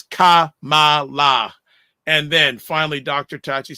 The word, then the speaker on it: Kamala: black Americans good question the way to pronounce her name as Kamala and then finally Dr